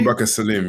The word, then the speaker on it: Abubakar Salim: Am I pronouncing that correctly? Abubakar Salim, yeah. Abubakar Salim.